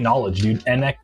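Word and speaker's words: Knxwledge: They have a ton of vinyl that's all just like beats and get Knowledge NX WL like that, you know? So it's spelled Knowledge just with an X instead of a O.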